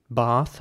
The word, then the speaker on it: bath: word right here bars the British pronunciation of this word will be bath with an R sound